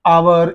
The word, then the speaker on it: hour: and before that similarly hour is there here H is silent but you are beginning